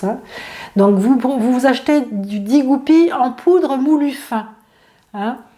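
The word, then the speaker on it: 地骨皮: Ça s'appelle Digupi en chinois. Alors ça s'écrit en 3 syllabes, Di, D-I, plus loin Gu, G-U, et plus loin Pi, P-I.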